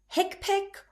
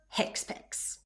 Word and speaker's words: HCPCS: You can pronounce HCPCS as hicpic or hicpics.